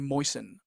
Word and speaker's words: moisten: in and we get moisten okay moisten we have to understand that the T here is silent so this we don't say moist then we say moisten moisten okay so the example